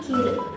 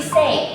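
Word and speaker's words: 生: Sebagai contohnya ini ada ikiru, dia bacanya itu i dan diikuti oleh hiragana jadi ikiru. Nah, untuk contoh kanji onyominya apabila dia disebelahkan oleh kanji lain, ini dibacanya itu dia jadi sei.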